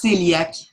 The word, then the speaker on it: cœliaque: Ça se prononce cœliaque.